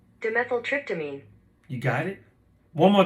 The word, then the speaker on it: Dimethyltryptamine: Pronounce it. Dimethyltryptamine. Dimethyltryptamine. Dimethyltryptamine.